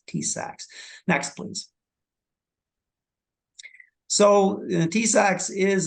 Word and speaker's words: TISAX: yes that's correct it's it's pronounced tsacs tsacs next please so TSX